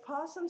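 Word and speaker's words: opossum: started with a p because possum starts with an O but the O is silent so we've had Pete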